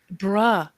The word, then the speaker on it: bruh: And bruh. Well, I apparently I say it wrong when I repeat it and say, "Don't call me bro." And she's like, "It's not bro. It's bruh."